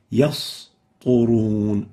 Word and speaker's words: يسطرون: And in that, it would result in يسطرون.